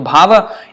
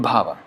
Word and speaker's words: bhava: doing that is bhava so bhava if I can pronounce well if I don't if I'm careless about it and I don't care that is not good Baba o maharaja no Krishna